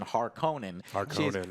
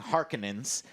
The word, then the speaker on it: Harkonnen: mean i just i'm used to the 1984's pronunciation harkonnen she's saying harkenans and then and then at one point i